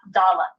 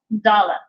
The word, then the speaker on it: Dalet: Hard, we pronounce it D, like a hard D sound. Soft pronunciation without the Dagesh Lene, it's kind of a buzzed D, a voiced TH, if you will. So it's the.